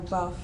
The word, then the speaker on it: LaBeouf: Buff, Shia LaBeouf, buff. But you wouldn't spell buff like buff. You'd spell it like BEOUF, buff.